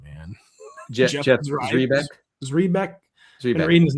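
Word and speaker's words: Zrebiec: Zrebeck.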